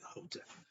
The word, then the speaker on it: Hotep: When I say Hotep, you spell H-E-T-E-P, or you can spell it H-O. The E and O is universal, so it's transferable. Some say the E, some with the O. I'll use the E. Still pronounce it Hotep.